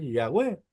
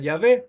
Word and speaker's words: Yahweh: Y ustedes tienen que entender, hermanos, que hay 5 familias de los hebreos que pronuncian Yahweh. Y está bien, está perfecto. Y hay otros que pronuncian Yahvé y también está bien.